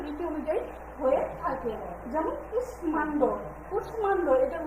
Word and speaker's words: কুষ্মাণ্ড: যেমন কুষ্মাণ্ড, কুষ্মাণ্ড এটার উচ্চারণটা আমরা কিভাবে করবো?